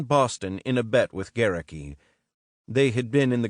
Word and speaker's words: Gerecke: Gerecke, rhymes with Cherokee, had also been rattled by Goering's suicide.